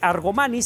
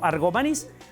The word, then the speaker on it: Argomaniz: voy a decir Repito no se dice argomaniz sino argomaniz argomaniz vivía en la calle